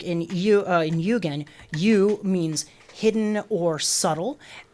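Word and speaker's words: 幽玄: And the meaning of Yugen, 2 syllables in Japanese.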